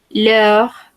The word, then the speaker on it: leurs: Recordemos, no pronunciamos la S final ni la S final. Leur voiture.